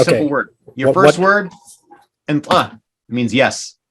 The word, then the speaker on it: antla: Your first word, antla, means yes. How do I spell it?